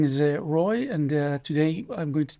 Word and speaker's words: Roi: In Hebrew, it's pronounced Roy.